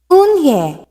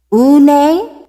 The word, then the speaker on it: Eun-hye: "Eun-hye," said Eun-hye. "Une?" the girl asked, scrunching up her face. Une," some kids chanted. "No, no," Eun-hye corrected. "It's spelled U-N-H-E-I. It's pronounced Eun-hye."